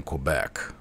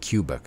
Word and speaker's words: Quebec: were seen in in Quebec I almost said cubec again spelled like q q back should be qua how would you spell qua q q be K they were seeing Quebec